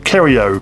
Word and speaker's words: Kyero: The second up and coming one I'm going to mention is a website called Kerio, which is spelled Kyero.